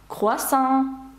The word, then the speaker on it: croissant: «Croissant», «croissant» теж на останній склад.